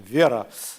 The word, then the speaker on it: Vera: The only thing that was missing in terms of creating Vera, sorry, now I'm going to use the Russian pronunciation, Vera, instead of Vera, but it's okay, Vera's cool.